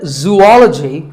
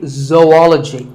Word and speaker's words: zoology: do you say it if you said zoology it's actually wrong that is a very common mispronunciation this is actually zoology zo and ology zoology number 42 is develop